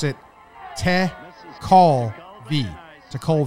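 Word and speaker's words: Tekulve: it acceptor I love tent it says you pronounce it Ted call V to Cole V to cold his nickname was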